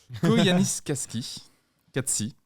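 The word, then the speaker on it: Koyaanisqatsi: Alors, attention à la prononciation. Koyanis Katsi.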